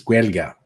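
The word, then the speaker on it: Gaeilge: Although if I pronounced it right, because my friend Franklin gave me the tutorial on how to say Irish in Irish, it's Guelga.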